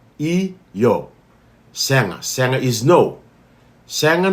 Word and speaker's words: io: It is pronounced I-yo.